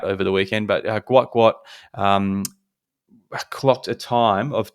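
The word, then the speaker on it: Gout Gout: um we had 16-year-old guat Gat um incorrectly pronounced Gat gat over the weekend but guat guat um clocked a time of 10 minutes and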